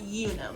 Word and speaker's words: Unum: use an app called i think it's pronounced unum it's spelled u-n-u-m and i'll make sure i